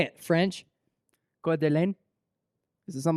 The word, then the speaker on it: Coeur d'Alene: Coeur d'Alene. Try it again. How would you say it? Try it again. How do you say it? Try it How do you again. say it, French? Coeur d'Alene.